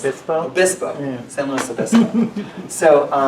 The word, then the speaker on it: Obispo: Did I pronounce Obispo? Obispo, yeah.